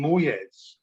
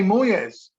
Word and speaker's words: Moyes: that why well because you're mispronouncing his name you're calling him moyes voice don't you but you say moyes it is moyes you're right i will